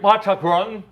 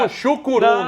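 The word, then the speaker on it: Mushuc Runa: Repete comigo, Machacron. Machacron. Isso eu falo a pronúncia de lá. É a maneira correta. Aqui eu sei Porque- menos dois. não é cara. Muxucuruna. Não, é Machacron, que é como os antepassados sempre pronunciaram Sim, o nome.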